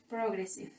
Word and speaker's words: progressive: When a word begins with the R and E, I and N, P, R, O, or A, usually the first syllables does not have an accent. For example, progressive. ¿Qué significa progresivo? Progressive, in this part, here there is no accent on the first syllable. The correct pronunciation is progressive.